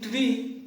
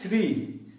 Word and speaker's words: three: For example, saying tree instead of three, saying very instead of very.